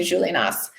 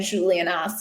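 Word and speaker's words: Juliénas: However, there are places, there are people's names, there are exceptions to that rule, and Julianas is one of them. So you do, in fact, pronounce the S there.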